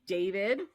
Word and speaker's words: d4vd: uh David D4 VD pronounced David.